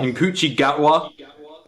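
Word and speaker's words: Ncuti Gatwa: Nkuchi Gatwa. Thank you. That's apparently how you pronounce it.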